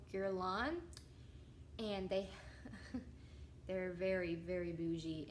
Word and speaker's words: Guerlain: they're big, makeup lovers like me, or skincare lovers, but there's a brand called Guerlain, and they're very, very bougie, and they have the Meteorites Primer Perfecting Pearls.